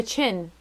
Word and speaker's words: Qin: A chin. Oh. It's a chin? It's spelled Qin.